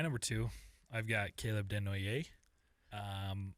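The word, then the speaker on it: Desnoyers: My number two, I've got Caleb Denoy. Um Caleb Deno. Yes. French name. It's awesome. I love it. I think I'm saying it right. I think so. I've heard it said Denier as well.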